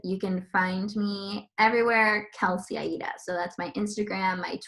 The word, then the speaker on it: Kelsey Aida: can find me everywhere kelseyaida so that's my instagram my twitter it's k-e-l-s-e-y-a-i-d-a like the italian opera it's my middle name everyone thinks it's my